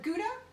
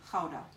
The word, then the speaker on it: Gouda: like to call it Gouda some people like to pronounce it powder this is a very